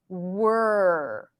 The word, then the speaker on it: were: more of those so the first word is not where where belongs to the as in red right the wear care dare that we practiced a few minutes ago but it's not the same vowel this is not an S sound it's a stir so it's were w2nr were were we